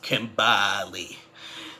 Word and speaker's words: Kimberly: happy whatever but kimberly i think kimberly and eastman pronounces her name like this kimbally so kimbally and eastman